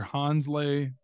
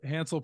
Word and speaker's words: Hansle: posted a picture with another Runner if I'm pronouncing his name right here Hansley parchment is that correct oh a Hansel Hansel parchment excuse me sorry for the mystery pronunciation